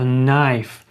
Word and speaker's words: knife: Далі у нас іде knife, буква. Так не читається просто knife.